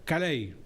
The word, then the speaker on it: Callaey: el apellido tuo cal Cómo es caei cay y origen de qué belga belga cale cal